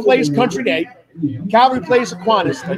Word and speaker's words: Aquinas: Calvary plays Aquinas.